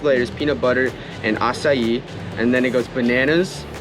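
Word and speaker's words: açaí: here for the juice we actually got an acai bowl that's how you pronounce it so we have the nectar acai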